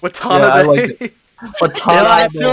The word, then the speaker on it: Watanabe: watanabe no with the cowboy accent it's just watanabe what's up i feel